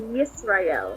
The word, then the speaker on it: Yisrael: know the Y, you add it to the I as in Israel, so Yisrael.